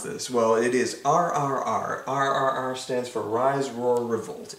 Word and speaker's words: RRR: title even is is it how do you pronounce this well it is rrr stands for rise roar revolt it is an